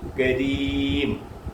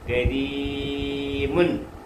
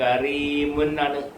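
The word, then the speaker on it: كريم: ഒന്നുകൂടെ പറയാം നമ്മൾ അബ്ദുൽ കരീം ഒരാളുടെ പേരാ അബ്ദുൽ കരീം എന്ന് പറയും അപ്പ കരീം എന്ന് പറയാറില്ല അതെന്താന്ന് ചോദിച്ചാൽ റാ എന്ന അക്ഷരത്തിന് കസർ വരുമ്പോൾ മലയാളത്തിൽ ഏതാണ്ട് രി എന്നുള്ള ഉച്ചാരണമാണ് ഉപയോഗിക്കുന്നത് അന്നേരം കരി കരീമുൻ കരീമുൻ എഴുതിയേക്കുന്നത് കറീമുാണ് കറി അങ്ങനെ പറയത്തില്ല അങ്ങനെ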